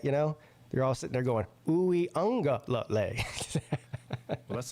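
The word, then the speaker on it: Uiagalelei: He's like, it's very easy. It's Uwe Ungalale.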